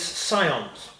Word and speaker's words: scions: Saiyans ah yes and reliably informed that the Connect pronunciations of skills is scions it is interesting because